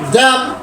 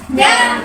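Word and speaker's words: damn: డి డి ఏ డి ఎం ఎన్ ఎం ఎన్ ড্যাম ড্যাম ড্যাম ড্যাম ড্যাম ড্যাম আবার ড্যাম ডি এম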